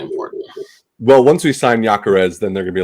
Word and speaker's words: Gyökeres: Victor Gyökeres, which is apparently how Fabrizio Romano pronounces that.